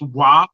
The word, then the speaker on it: Joop: It's pronounced WAP because it's an Asian fragrance, Okay. JOOP, but most Black people call it Jupe.